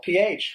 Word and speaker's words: Ralph: Ralph. Rafe. Rafe. As it's spelled.